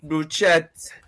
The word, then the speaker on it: bruschetta: Bruschetta. It's pronounced bruschetta, but it's okay.